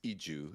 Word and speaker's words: Izu: well, but like for Izu in particular, like the reason that he says it's Iju is because there's just no Z sound in Korean.